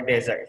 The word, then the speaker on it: desert: So the easiest way how to difference by the pronunciation. If you talk about makanan penutup, okay, in Indonesia we call it D, start with I, dessert. Okay, if it is padang pasir, We start with A, desert.